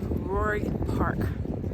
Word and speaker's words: Rohr: I am out in San Diego at a place called Rohr Park. Rohr Park. It's spelled really funny.